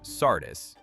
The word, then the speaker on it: Sardis: Herodotus describes a royal road running from Sardis, pronounced Sardis, in the west to Susa, pronounced Susa, deeper in the imperial core.